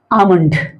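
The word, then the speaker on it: almond: आमंड य आमंड भी कुछ लोग पढ़ते हैं और आलमंड भी पढ़ते हैं अमेरिकन इंग्लिश में यह अमेरिकन इंग्लिश में आलमंड बोला जाता है लेकिन ब्रिटिश इंग्लिश में चकि हमारे यहां ब्रिटिश इंग्लिश को मान्यता है और प्रचलित ब्रिटिश इंग्लिश है इसलिए यहां पर एल साइलेंट करके बोला जाएगा तो इसको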